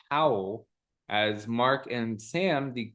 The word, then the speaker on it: Hywel Dda: 10th centuries, and most notably King Hywel Dda, Howell the Good.